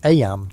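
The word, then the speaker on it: Eyam: It's now the summer of 1665, and we find ourselves in Aam, a small village nestled in the picturesque hills of Darbisha, England. Aam, you know, is pronounced just like em.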